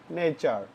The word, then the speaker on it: nature: নেচার। এই টিইউর উচ্চারণ হলো চর মতো, তাহলে এটার উচ্চারণ হবে নেচার, মানে হলো নেচার মানে প্রকৃতি।